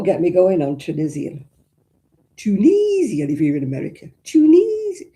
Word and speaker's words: Tunis: There's actually a place in Tunisia called Tunis. It's not Tunis, it's Tunis.